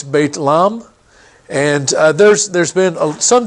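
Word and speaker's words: بيت لحم: means House of bread in Arabic it's Beit Lahm and there's there's been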